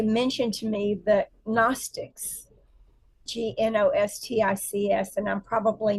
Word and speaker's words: Gnostics: But um so recently in in my conversations um they mentioned to me the Gnostics G N O S T I Cs and I'm probably not even pronouncing it right, but the Gnostics.